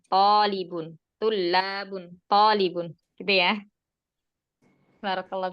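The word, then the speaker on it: طالب: Kalau tulabun itu jamaknya. Kalau tolibun itu mufradnya. Berarti setelah to-nya ada matnya. Itu kalau mufradnya tolibun. Kalau jamaknya to-nya itu domah, bukan fathah lagi.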